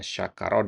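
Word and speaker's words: شَكَرَ: Bedakan ya syakaro dengan syukrun ya. Ya, kalau tulisannya kan sama ya. Ya, syakaro syukrun kalau enggak diharakati sama persis itu ya.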